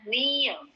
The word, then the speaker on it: near: Lawan kata dari far itu ada near, bacanya near, kayak N-I-E, near, R-nya nggak dibaca, dan A-nya jadi E, near, artinya dekat.